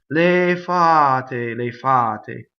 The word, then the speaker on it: le fate: Going on, le is a weak monosyllable. I hear this doubled all the time. Le fa. Le fate, right? Single F, single T. Le fate, no, le fate.